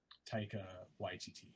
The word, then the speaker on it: Taika Waititi: written by this guy and how do you pronounce his name again? Taika Waititi.